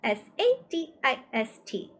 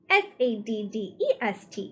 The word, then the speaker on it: sadist: "That's SADIST, not SADDEST, you know," Charles Wallace said and giggled again. "Lots of people don't pronounce it correctly."